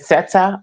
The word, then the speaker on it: Sette: And it's pronounced set, by the way. Just set.